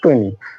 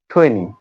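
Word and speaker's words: twenty: আমরা অনেকে উচ্চারণ করি টুনি বাট আমরা যেহেতু টি এর উচ্চারণ টি শিখেছি এজন্য এটা হবে ঠৈনি ঠৈনি ঠৈনি ঠৈনি টু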